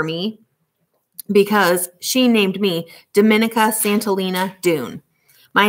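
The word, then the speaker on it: Domenica Santolina Doone: woods and a river my name is pronounced the italian way dominica santolina dune it's a mouthful so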